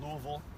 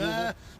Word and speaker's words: Louisville: You were at Louisville. Yes, sir. I pronounced that correctly? Yeah, Louisville? There's actually T-shirts that have about 7 different pronunciations. So I think, any one of those works.